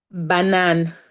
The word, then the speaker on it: banane: Banane. Banane, banane, banane. Okay, great. So we have this banane. It sounds a lot like black, right?